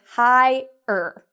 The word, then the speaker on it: hired: Well, the first thing is it is 2 syllables. So we say hi-er. Okay, so I want you to repeat after me. Hi-er. Okay, and so it's kind of like the word hi-er.